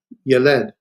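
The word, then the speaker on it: ילד: And here we have a segment now where the accent's in the first syllable, and this is yeled, yeled.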